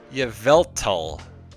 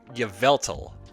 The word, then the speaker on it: Yveltal: So here we have a Yveltal. Good lord, I should probably learn how to pronounce it. This is the final card. Yveltal.